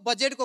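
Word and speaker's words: budget: वर्षको साउन महिनामा खरबौँको बजेटको कुरा हुन्छ तर त्यो बजेटको कुरा नबुझिन्छ न कहाँ गयो भनेर खोज्दा भेटिन्छ यो बजेट भनेको अङ्ग्रेजी शब्द हो यसको उच्चारण गर्दा डी साइलेन्ट हुन्छ त्यसै गरी खरबौँ बजेट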